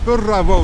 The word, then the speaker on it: Burravoe: It's hard to pronounce. Burravoe, they call it here.